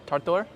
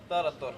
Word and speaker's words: tarator: Do I pronounce that properly? Shopska? Shopska. Yes. Okay. And then tartor? Tarator.